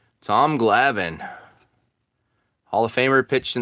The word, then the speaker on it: Glavine: Used to pronounce his last name Glavin, and it drove me wild. Dude, he's Glavin, not Glavine.